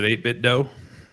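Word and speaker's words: 8BitDo: So I pronounce it 8-bit dough.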